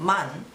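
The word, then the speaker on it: 万: after this comma there is uh it's called man but after that it's the same thing uh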